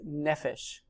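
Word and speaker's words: נפש: It's nefesh.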